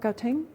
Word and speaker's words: Gauteng: This is showing high transmissibility of the Omicron variant, shown in this rapid rise of cases in, how do you pronounce it, Mark? Gauteng?